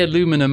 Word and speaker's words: aluminum: Look, you say aluminum, I say aluminium.